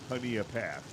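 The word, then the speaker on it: Honea Path: They were actually the ones that taught me how to pronounce Haneia Path.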